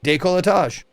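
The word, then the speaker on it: décolletage: Day colage.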